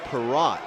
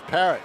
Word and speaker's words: Perrott: And it's Alex Perrott is how the public address announcer pronounces it, Tom. I always thought it was Parrott.